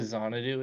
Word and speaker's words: Xanadu: I think that's the Xanadu. pronunciation. Xanadu, yeah. It's It's Xanadu. It's like Xanadu. Yeah, it's Xanadu.